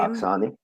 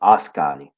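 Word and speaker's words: Askani: that uh mother uh however you say her name aani aani Rachel at the end aani no I read that wrong asani I read that wrong he said mother asani and Rachel Summers so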